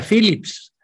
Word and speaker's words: Phillips: después mi manager porque si se escribe phillips con p se pronuncia phillips con efe el que fuera a